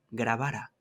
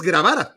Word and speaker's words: Grabara: Es esos partidos merecen que sus que su representante se los grabara. Es que además es grabara, tal cual, es decir, tal cual, tal cual, tal cual, como no es una pronunciación, sino es grabara, Camil Gravara.